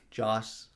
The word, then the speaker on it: Joss: Wait, how do you say his name? Joss. Okay, I thought you were saying Josh. I'm like, no, Josh. Is his name Josh? No, Josh. Josh Whedon with two S's.